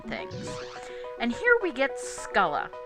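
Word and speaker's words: Scylla: and here we gets culla yeah that's actually how it's pronounced it's usually written SC y lla those of you with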